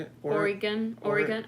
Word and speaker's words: Oregon: say it or Oregon Oregon I said Oregon Oregon like a pentagon Oregon uh let's see